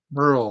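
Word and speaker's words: Beryl: demand side of the market then on Hurricane Barrel or bar how did you pronounce it Bill Burl like Burl eyeses but that's B that that's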